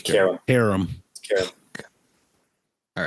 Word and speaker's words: carom: Is it carom or carome? I believe it's Carom. Harem. Carom. All right. Have you been saying carome every time?